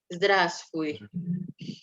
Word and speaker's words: здравствуй: Tulisannya memang здравствуй ya, tapi bacanya karena cepat jadi bacanya seperti здравствуй. Huruf V yang di tengah itu tidak terbaca ya, jadinya здравствуй.